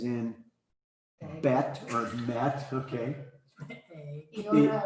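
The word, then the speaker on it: ι: Iota or iota. Iota, yeah, which is a short, normally a short I sound there. Sometimes long. E.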